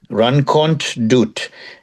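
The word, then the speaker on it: Rankont Dout: Run doot.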